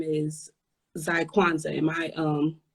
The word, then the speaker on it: Zykwanza: Because your Instagram name is Zykwanza. Am I pronounced it right?